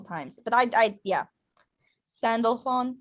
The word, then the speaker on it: Sandalphon: me a couple times but i i yeah sandalphon sandalphon there it is delphi um some of my